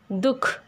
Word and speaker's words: दुख: जबकि शब्द के मध्य में इसका उच्चारण नहीं होता, जैसे दुख।